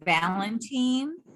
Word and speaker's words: Valentin: the mother of the lance corporal ronald macho valentine is that how you pronounce it gloria yes i got it on